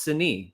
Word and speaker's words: Signe: Oh, she right here, pronounced Signe.